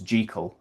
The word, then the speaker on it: Jekyll: So, like uh Jekyll, he uh Stevenson knew a Scott called Walter Jekyll. Although the the Scottish pronunciation is Gekel as um nerds like to point out and correct.